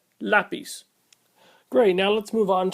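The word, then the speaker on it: lápiz: be pronounced lapis but it has a an accent over the a so it voids the previous Rule and is always pronounced lapis great now let's move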